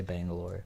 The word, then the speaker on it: Bangalore: like- I mean, they're pronounced a couple different ways. So some people say Bengaluru, some people say Bangalore. So it just depends.